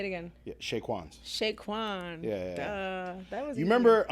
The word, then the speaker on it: Chez Quan: your restaurant what is your brand uh so Shake wans we're just oh Shaquan sha Kwan why didn't